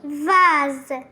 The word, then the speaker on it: vase: mot vas alors ici pourquoi on a prononcé S comme Z parce que il y a deux voyal non c'est pas de voyal